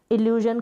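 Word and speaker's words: illusion: इल्ल्यूजन करके प्रोनाउंस करेंगे।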